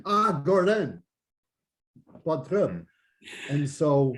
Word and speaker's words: Gordon: And then I lived in Quebec for 4.5 years, and they can't pronounce the D at the end of a word.